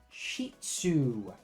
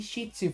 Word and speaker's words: Shih Tzu: to the adorable little, let me say it right, the Shih Tzu. I was saying it wrong in my update video. Really wrong, but I'm saying it right. The Shih Tzu.